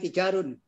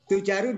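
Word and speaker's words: تُجّار: Haula'i Tijarun. Kok tijarun? Bacanya gimana, Pak? Tujarun saja. Pakai tasdid.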